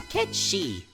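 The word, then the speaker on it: Cait Sith: The name's Ketchi. Jeez, they pronounced it right in the mod!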